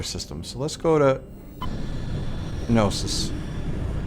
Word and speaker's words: Gnosis: So let's go to Gnosis. I'm assuming the K is silent.